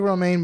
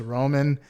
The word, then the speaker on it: Romain: uh Formula One driver Rome Romaine it looks like Romaine but it's Roman grosjean I I can't